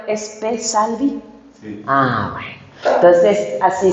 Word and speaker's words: Spe Salvi: Así que a ver, ¿está bien pronunciado? ¿Es Pesalvi?